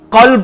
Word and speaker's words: قلب: Club, کاف کے ساتھ۔ کاف اور قاف میں فرق ہے۔ آپ نے اگر قلب پڑھا، قلب کا معنی ہوگا دل، اور اگر آپ نے پڑھ لیا کلب، یعنی تلفظ کی کوئی ادائیگی نہیں، قاف کو کاف بنا دیا، کاف کو قاف بنا دیا، تو کلب کا معنی ہوتا ہے کتا۔ اب آپ کہیں قرآن